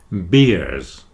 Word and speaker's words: beer: two beers with ears so if you remember ear when you say the word beer just remember the image of beers with ears then you'll get that pronunciation correct beers with ears and